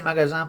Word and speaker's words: magasin: Y se dice magasin porque la S entre dos vocales se pronuncia como una Z.